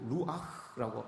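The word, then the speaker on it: רוּחַ: 구약 성경에서 우리가 잘 알고 있는 이 성령은 성령이라고 이렇게 이야기를 안 하고 루아흐라고 이야기합니다. 히브리 발음으로 그렇게 이야기를 해요.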